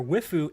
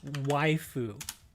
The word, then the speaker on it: waifu: you're you're your your wifu is a ghoul that's weird but hey man whatever you like whiffy you then it's it's waifu there you go it's it's spelled like that it's waifu he's a good old